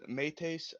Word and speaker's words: Mates: Correctly is Mates. Mates. Really yes. Mates.